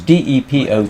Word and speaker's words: depot: because I did an automatic transliteration because d e p o t in England we obviously pronounced depot and he said what I said